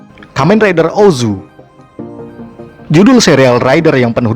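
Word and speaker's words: OOO: kadang membingungkan untuk diucapkan kita memang akrab dengan pengucapan Ozu walaupun judulnya ditulis dengan tiga buah huruf o namun juga dapat ditulis menjadi iOS yang merupakan bentuk plural dari huruf o tersebut mirip dengan judul Kamen Rider Faiz yang baru kita bahas sebelumnya namun kadang ada juga yang menyebutnya sebagai triple walaupun pengucapan resmi tetap Ozu dan Sama halnya dengan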